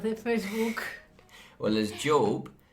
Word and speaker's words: Job: You pronounce it differently. Job, as in the biblical character Job.